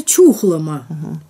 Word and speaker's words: Чухлома: называется гу число чухлома правильно произносится чухлома но слова это сложная